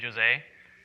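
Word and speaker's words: José: by Jose Abele and for any Spanish speakers who think that I just English the name Jose a he's Brazilian so it's pronounced with a J so shall I throw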